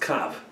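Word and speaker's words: קוה: The gematria of kufav hey is 111, but it's pronounced without the hey. It's pronounced kav, which is just kufav.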